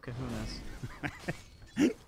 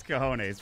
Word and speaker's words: cojones: Massive kahunas. It's cojones, but that's all right.